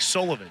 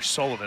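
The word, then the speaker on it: Kulivan: Sounds like Sullivan, spelled k u l i v a n. So, that means I'm going to call her Sullivan all weekend long as Colleen fouls that one off.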